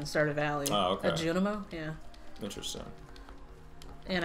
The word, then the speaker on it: Junimo: A Junimo? Yeah. Interesting. And I keep mispronouncing them saying Juminos for some reason.